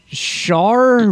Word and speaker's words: Schar: Char Blue Shield Alliance. How would you pronounce SCHAR? Yeah, Char.